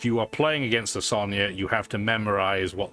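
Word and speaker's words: Sonja: So it'd be Sonya. I know there's a J. I'm not going to pronounce it like it's a J, like I would have done as a kid.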